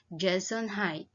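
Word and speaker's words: Gesundheit: remember to tell them jason height that is funny looking word which is pronounced jason hyde it is the german word that wishes someone good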